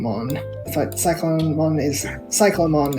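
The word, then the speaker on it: Cyclonemon: but cyclone one is cyclomon as in cyclops not cyclone funnily enough there are japanese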